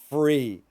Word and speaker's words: free: So three, three, three, and then free, free. So the big trick, the tip here is that when you say free, take your teeth and they need to make contact with your bottom lip.